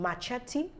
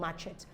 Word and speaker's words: machete: E is pronounced and in Machete the E is pronounced what we commonly called matchet is actually pronounced as